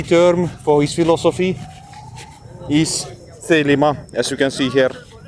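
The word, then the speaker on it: Thelema: The lima the lima with the modern Greek pronunciation the lima meaning will in Greek which he believed for set the individual free.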